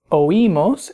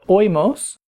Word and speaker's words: oímos: You'll notice in these forms the I has an accent mark to break the diphthong, meaning that it makes that I a syllable by itself, so it's oímos instead of oímos, and oís instead of oís.